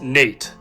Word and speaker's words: Nat: Together, they had 3 children, a daughter named Sally and 2 sons, Jordan and Nat, the latter's name often pronounced as Nate.